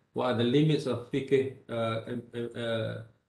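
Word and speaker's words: فقه: What are the limits of fiqh? How do you pronounce this word in Arabic?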